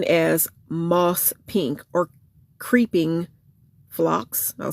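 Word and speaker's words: Phlox: I think it's flocks or something.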